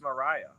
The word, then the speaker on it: Mariah: thanks Mariah I think I called you Maria the beginning and then I realized I'm very very used to it okay then I seen your name spelled like Mariah Carey I oh it's Mariah correct yeah the H makes a difference sure does all right